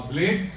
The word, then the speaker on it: BLAED: Now, Blade, on one hand, is cutting edge, so B-L-A-D-E, but the way we spell it is B-L-A-E-D, which is, in Irish, wealthy glory.